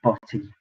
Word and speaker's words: Botie: I said Bottie. It's spelled Botie. Looks like a botty.